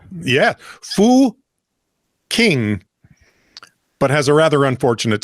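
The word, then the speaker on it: Fucking: The village is pronounced. Start with an F? Yeah. Fu King, but has a rather unfortunate spelling that has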